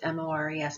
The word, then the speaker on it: mores: Now it's spelled mores, M-O-R-E-S, but it's pronounced mores, folkways, and values, and we'll explain what those terms mean in a bit.